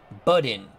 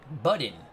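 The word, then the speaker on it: Buddin: The Red Sox shortstop is pronounced Budin. Thank you, Bernard Strom. Budin.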